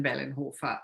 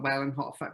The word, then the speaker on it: Wellenhofer: So in German it would be -Wellenhofer, but in the United States it's and then Wellenhofer or Wellenhofer because the W is pronounced differently.